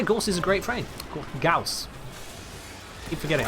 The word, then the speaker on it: Gauss: I read the word Gorse, I see Gorse, but it's not Gorse, it's Gauss, because some Becca's family decided that they were going to spell it G-A-U-S-S for G-O-W-S.